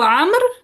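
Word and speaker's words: عمرو: सो ये उमर नहीं है, ये उमरो जैसे कुछ लोग बोल देते हैं, उमरो, उमरो नहीं है, ये आमर है। क्या है? आम्र। हाँ जी, वाव साइलेंट हो जाता है, ठीक है, आमर।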